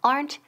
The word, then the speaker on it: aren't: Okay, so aren't they? And the pronunciation aren't. Quedan una sílaba. Aren't. Aplastamos esa E. No es aren't ni aren't, okay?